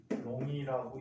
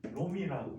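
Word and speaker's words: coulomb: 플롱 단위는 C자라고 쓰고 뭐라고 읽어? 쿨롱이라고 읽지 않고 쿨롬이라고 읽어.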